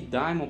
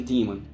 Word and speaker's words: daemon: Não adianta virem aqui falar, eu já expliquei que daimon, pronúncia é daimon porque vem do grego, em inglês eles pronunciam daemon. É, não, que a pronúncia é daemon, não é daimon. Daimon é em grego, pra gente falar é mais fácil.